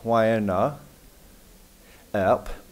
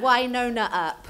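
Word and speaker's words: Wynonna Earp: So mostly in Wyona, Earp. Pronounced it wrong. Sorry. And Carmella. Carmella. Okay, thank you. And Winona Earp.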